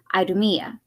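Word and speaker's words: Idumea: south including the old area of edon or aydumiyah as it was called in new testament times in case i mispronounced that edom is e-d-o-m is i-d-u-m-e-a its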